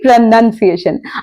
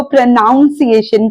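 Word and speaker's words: pronunciation: उच्चारण यानी कि प्रोनंसिएशन अब बहुत बार लोग इस वर्ड की भी बैंड बजा देते हैं और इसको प्रोनाउंस एशन कहते हैं इसको हम आजकल प्रोनंसिएशन कहते हैं उच्चारण का उच्चारण होता है प्रोनंसिएशन याद रखिए नंस एशन प्रोनाउंस एशन नहीं तो अगर आप किसी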